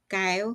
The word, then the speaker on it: Keo: First name is Ka K EO.